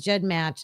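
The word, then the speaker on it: GEDmatch: We use Jed match. And then the Am I saying it right? Then the Yes, you are.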